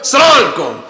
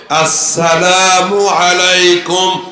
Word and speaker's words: আসসালামু আলাইকুম: এটা ট্রেনিং দিচ্ছি, আমরা সিনটা আমরা উচ্চারণ করি না, কোন রকম সালাম আলাইকুম আছে না, সুন্দর করে সালাম হবে আসসালামু আলাইকুম বলেন। আবার সবাই মহিলা প্যান্ডেলে মা বোনেরা আপনারা সালাম আস্তে আস্তে প্র্যাকটিস করেন, আসসালামু আলাইকুম।